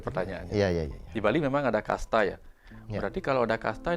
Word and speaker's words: casta: dengan adanya pemahaman tentang kasta itu. Nah, bicara tentang kasta itu kita pertama definisi dulu. Ternyata yang baru tahu Pak Putu, kasta itu bahasa Portugis atau Spanyol. Tulisannya casta, bacanya kasta.